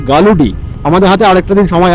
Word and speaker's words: Galudih: মতো দেখাচ্ছে আর কি আমি নামটা একটুখানি ভুল প্রোনাউন্স করছিলাম গরুডি করেছিলাম বেসিক্যালি রাত্রি হচ্ছে নামটা হচ্ছে গালুডি আমাদের হাতে আরেকটা দিন